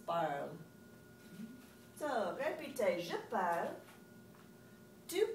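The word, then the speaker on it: parlent: This is parle, parle, parle, and parle. I know you want to do it, but please don't do parlant. Ooh, it's parle. So, répétez, je parle, tu parles, il parle, elle parle, il parle.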